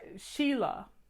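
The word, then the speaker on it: Selah: was gospel song by Sheila s e lah I think is the way it's pronounced and the song was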